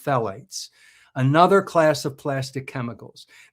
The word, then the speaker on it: phthalates: Then there are phalates or phthalates. I think it's pronounced phalates.